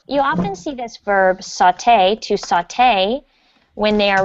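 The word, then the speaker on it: sauté: you can see so you pronounce the second syllable saute saute the mushrooms good can everyone please repeat after me saute the mushrooms so if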